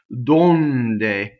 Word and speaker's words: donde: is the first light donde so this o is stressed and it's closed and as I said